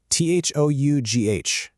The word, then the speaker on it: though: I mean, take this word for example, T-H-O-U-G-H. You practice it, you get comfortable with that O sound in though.